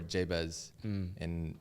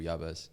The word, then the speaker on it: Yavis: That's how it's said in the Hebrew, Yavis.